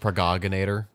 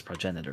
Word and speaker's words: progenitor: The virus discovered in that flower was labeled progenitor. For 3 months in Africa, we worked diligently, fretted over results, and staved off Ryan attacks. is pronounced progoginator, obviously. Progenitor. I'm kidding.